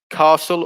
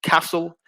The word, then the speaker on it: castle: For number 5, there's 2 pronunciations, castle or castle, but with whichever pronunciation you use, there's no T. So the T is silent in castle.